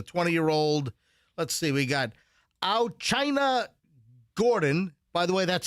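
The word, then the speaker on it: Au'Chyna: Let's see, we got China Gordon. By the way, that's spelled AU apostrophe CHYNA.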